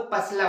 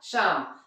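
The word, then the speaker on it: psalm: जैसे मैंने आपको पहला एग्जांपल दिखाया था, याद होगा आपको, पसलम, वो पसलम था क्या, नहीं, वो क्या था, शाम, तो वहां P साइलेंट था और वहां L भी साइलेंट था, क्योंकि वो M के पहले आ रहा था।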